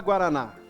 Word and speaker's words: guaraná: e por exemplo a palavra guaraná Qual que é a sílaba mais forte não é a última e a palavra em